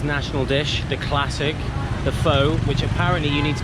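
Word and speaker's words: phở: dish the classic the pho which apparently you need to be careful how you say it you need to say fur apparently if you say it faux then that might mean prostitute so if you ask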